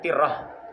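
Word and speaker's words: ترة: danah itu kawah ya Eh bukan Tarah ya bacanya Tiah ya Ti anqsu dia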